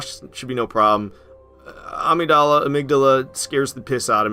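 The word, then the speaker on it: Amygdala: you say it a amigdala I don't know I like to say Amidala but that's way wrong so now I say amigdala but I feel like that's also wrong they got mikolash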